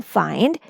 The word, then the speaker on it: find: should have been and the pronunciation should have been fin F fend but here you can see that it says its long sound that is I as in find then in mind wind